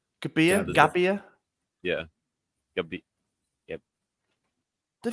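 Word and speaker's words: Gabbia: was like what yeah you're supposed to say the double be gabia gabia yeah gab Yep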